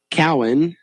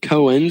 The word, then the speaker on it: Cowan: my pause there was to hear how they pronounced his last name cowan i would have said cohen so i'm glad i